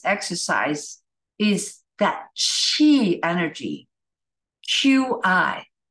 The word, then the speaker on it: Qi: is that cheat energy Qi who the heck thought of spelling it with a Q it's pronounced Chi okay so do any